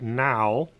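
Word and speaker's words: NAO: plain bad in a Oh which is pronounced now is an autonomous programmable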